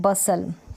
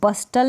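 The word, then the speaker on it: bustle: तय करेंगे स्पेलिंग है बसल क्या है बस लव इसको बस्टल नहीं पड़ने देती थी साइलेंट टेस्टी रैली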